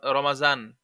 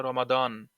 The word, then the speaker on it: রমাদান: ওই যে আরবিতে তো সদ সদ এই দ্বের উচ্চারণ অনেকে আবার জ করে যেমন অনেকে বলে রমাজান আমাদের দেশে বলে রমাজান কিন্তু এখানে রমাদান অনেকে বলে রমাদান এগুলো হালকা একটু মুখতালাফ আছে